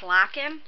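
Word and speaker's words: Lochan: wrong i apologize but i believe it was locking lacking lock-in so it says locken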